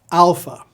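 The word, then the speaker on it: Άλφα: looking at each letter Alpha it's pronounced a as in Father English has three sounds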